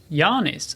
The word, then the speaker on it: Jānis: say oh sex yanis also there's like a long a there yeah it's it would be like double a in estonia ah yeah well that's